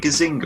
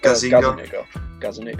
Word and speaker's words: Gazzaniga: Is it Gazzaniga or something? Gazzaniga.